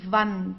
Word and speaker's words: Wand: W, okay, we pronounce it as V, die Wand, die Wand. Okay, so we don't have something like in English like w, like wall. We don't have this. We say Wand, v, okay, Wand.